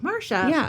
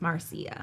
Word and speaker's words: Marcia: cuz everyone was like it looks like Mara but it's Marcia okay Marc Marcy uh